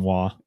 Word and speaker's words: Roy: His name was Patrick Roy. He pronounced it Roy, which is kind of funny. He pronounced it Roy. I think we called him Wah.